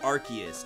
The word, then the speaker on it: Arceus: want to know tell the people um it's pronounced Arceus not arch Arceus sprouts um Arceus yellow line board what's